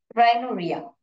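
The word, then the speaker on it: rhinorrhea: इसको कैसे प्रोनाउंस करते हैं आप? मैं ऐसे लिख देती हूँ आपको, राइनो करके लिखिए और रिया करके लिखिए, राइनोरिया। तो राइनोरिया, ऐसे रिया करके नहीं प्रोनाउंस करने देते हैं, राइनोरिया।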